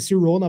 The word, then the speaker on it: Sirona: nome Escolhido já que cirona sirona deve ser cirrona pronúncia começa com Siri Que significa senhor em